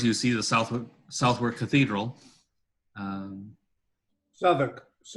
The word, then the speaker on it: Southwark: Southwark. How, sorry? Southwark. Okay, sorry. The W is silent. That's English.